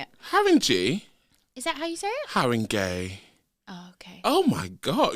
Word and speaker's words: Haringey: Haringey.